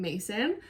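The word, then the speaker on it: Macyn: So like I said earlier, my name is Mason. It's spelled M-A-C-Y-N.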